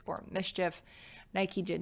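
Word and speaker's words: MSCHF: So Nike has sued, I think it's pronounced Mischief, M-S-C-H-F, the Brooklyn-based brand because they used a Nike shoe and then sold it without Nike authorization.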